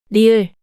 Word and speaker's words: 리을: 리을, The name of this consonant is 리을. rieul is the same R sound you make when you pronounce rattlesnake. Now, try pronouncing it 5 times, following the voice.